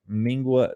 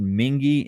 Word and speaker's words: Mingua: mingis but it's actually spelled m-i-n-g-u-a i think mingwa everybody calls it mingwa m-i-n-g-u-a it's made in paris kentucky but it's actually pronounced mingy m-i-n-g-u-a mingy beef jerky i love their garlic